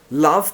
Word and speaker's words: love: um I'm sorry I love you all um love and laugh how do you pronounce them wow yes many people actually ask